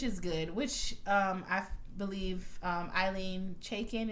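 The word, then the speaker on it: Ilene Chaiken: Which I believe Eileen Chaikin is how you pronounce the name, the creator of the show.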